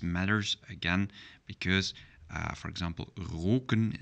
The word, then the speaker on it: roken: again because, for example, roken is not the same as rocken, so the pronunciation matters. Roken means to smoke, and rocken means skirt, so that's a plural of rock. So, and the same goes for zonen, suns, and zonnen, to sunbath, sunbathing. So, let's pronounce after me, roken and rocken.